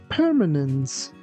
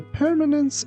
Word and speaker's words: permanence: The permanence of something is its ability to last forever. Poor results threaten the permanence of the new system. Here, keep in mind that letter C sounds like S, not C.